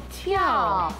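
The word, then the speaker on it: 粜: 所以一个是跳，一个是笛，分别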